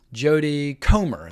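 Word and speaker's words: Jodie Comer: last duel Stars Boom Boom Boom Boom Boom Jody comr that's how you say her name anyway she's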